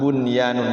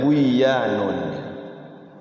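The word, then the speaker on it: بنيان: Ini juga sama, bunyanun nggak boleh buyanun.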